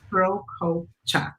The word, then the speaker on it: Prokopchuk: I mean, Prokopchuk, so 3 syllables. Prokopchuk.